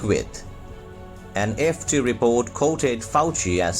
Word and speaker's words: Fauci: report top u.s infectious disease expert dr anthony fauci yes the pronunciation of the name is dr anthony fauci fauci called on china now the first word